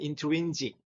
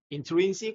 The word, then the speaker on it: intrinsic: Is there a table which has a certain intrinsic 또는 intrinsic? 이거를 즈 발음을 해도 되고 스 발음을 해도 됩니다. Intrinsic or intrinsic nature and continue to exist when I'm not looking.